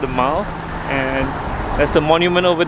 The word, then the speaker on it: The Mall: made it to pakistan palace and this is the mall where i just cycled through just now it's not pronounced the mall apparently it's called the mao and that's the monument over there buckingham palace